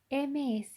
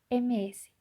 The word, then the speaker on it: Ms: MRS, que designa a una mujer casada, sino MS, que se pronuncia Miss con la S sonora.